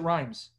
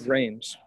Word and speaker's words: Rheims: and the dewey rheims am i saying rhames right is it rhymes i think it's wrong it's reigns reigns okay well anyway if